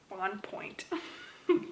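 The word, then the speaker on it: Bonpoint: but it's one word b-o-n p-o-i-n-t so if our pronouncing it in american english should be on point but we're trying to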